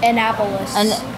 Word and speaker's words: Annapolis: capital is and and how do you say that what an apollos annapolis thank you i knew that which